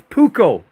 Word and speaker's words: Puukko: It's pronounced Puukko.